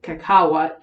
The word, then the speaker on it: kakawa: of course cacao um pronounced by the almex as uh kakao kakawa k-a-k-a-w-a kakawa i mispronounced that